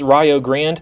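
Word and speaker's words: Rio Grande: game will be january 10th at home against rayo grand yes it's pronounced rayo and yes they're in the kiac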